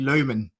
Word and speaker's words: Lohman: And with me, my guest today is Islam Channel USA's Charlie Lohman. Have I pronounced your name correctly, Charlie?